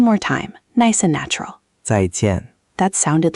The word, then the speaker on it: 再见: Both syllables are 4th tone, so it's 2 little falls in a row. 再见, 再见.